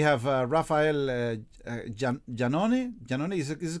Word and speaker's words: Jannone: uh uh we have uh rafael uh uh janoni is correct the pronunciation raphael hello rafael and raul portales which